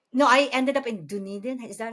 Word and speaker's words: Dunedin: No, I ended up in Dunedin. Is that how you say it? Oh, Dunedin?